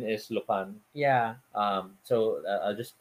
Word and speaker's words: Lupin: been people who have corrected me just as lupin is lupan yeah um so i'll just play this to